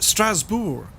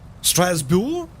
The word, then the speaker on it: Strasbourg: oh uh but yes uh in french it's pronounced strasbourg strasbourg yes uh airport finally downloaded i think we're